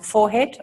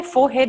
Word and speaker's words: forehead: head so that the forehead foreign you say forehead or forehead in melbourne both i grew up